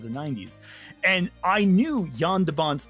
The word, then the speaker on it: Jan de Bont: By the way, I mispronounced his name. It's Jan de Bont, not Jean de Bont.